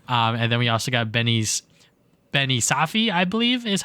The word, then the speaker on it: Benny Safdie: And then we also got Benny Safdie, I believe is how you pronounce his name, as Bowser Jr.